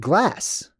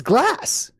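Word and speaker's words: glace: In French, the word for glass, I mean, the word for ice is the word glass. It's just it's spelled differently, but it's glass.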